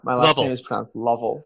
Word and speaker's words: Lovell: So, Brian, my last name is pronounced Lovell.